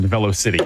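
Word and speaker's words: Velocity: I do want to point out that our producer has opted to pronounce it Velo City, so that does settle that debate.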